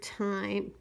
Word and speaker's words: time: go with the word time. It is time to rest. Time. That E is silent, telling the I to say its name.